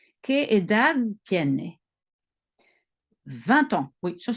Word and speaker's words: edad: Le D à la fin ne se prononce presque pas. ¿Qué edad tiene?